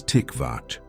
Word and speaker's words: tikvah: The word is tikvah. Pronounce it with me. A breath for each syllable.